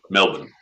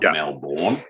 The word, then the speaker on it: Melbourne: If you're a local, it's Prescott, just like Melbourne. It's not Melbourne, it's Melbourne. Yeah, it's not the quarterback of the Dallas Cowboys.